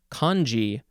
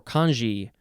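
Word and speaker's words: congee: on the right or it could be kanji or kanji c-o-n-g-e-e this is a noun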